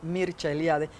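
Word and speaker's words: Mircea Eliade: de las religiones mercealiade que se pronuncia en rumano porque es rumano mircha eliade que tiene muchos libros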